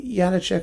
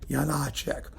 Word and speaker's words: Janáček: It's the one Janáček opera.